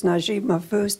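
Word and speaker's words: Naguib Mahfouz: Can you talk about Taqiya as it relates to how the author Najib Mahfouz developed it in his books? And Taqiya? Yeah. I may not Mahfouz. Be pronouncing it correct.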